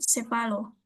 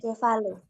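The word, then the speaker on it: ĉevalo: Estaso dio Estas Cevalo Cevalo Cevalo. Heeh. Huruf C yang ada topinya bacanya C biasa ya.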